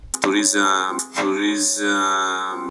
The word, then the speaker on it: tourism: Tourism. He emphasizes his ism. You don't have to emphasize the ism. So it should be tourism.